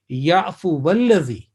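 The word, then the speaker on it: يعفو والذي: And you already know that it will be waw, which is maftuha, mutaharrik, will be joined with lam mushaddad, which is alladhi. So the pronunciation will be ya'fu walladhi.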